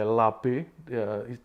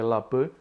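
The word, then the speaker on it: לב: Heart atau hati di dalam bahasa Indonesianya dikatakan dalam bahasa Yunani sebagai labe, tulisannya adalah leb, leb, dipronounce sebagai labe, diartikan sebagai inner man, inner part, mind, will, atau juga heart.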